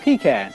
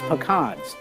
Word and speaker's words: pecan: So things to me, a pecan. Growing up, we ate pecans, but here it's pecans, and there's a big difference. So just regional differences in pronunciation.